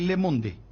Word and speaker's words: Le Monde: Pero se escribe para decir Le Monde, pero en francés es Le Monde. O Le Monde.